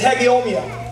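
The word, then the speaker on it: hegeomai: huh you listen hallelujah the greek word is hegeomia hegemia listening hegemia i mean i practiced that pronounciation all last night i've got it down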